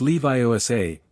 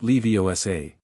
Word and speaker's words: Leviosa: "It's Leviosa, not Leviosar."